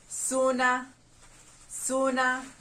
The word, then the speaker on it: suna: mosquitoes in the luau suna suna how do we spell it s-u-a-n-s u a s u n a s u n a suna suna suna refers to mosquitoes number 16 b b